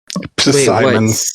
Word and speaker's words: Psimon: Psimon. Yes. Simon with a P. Yes. Psimon. Psimon. The P is silent.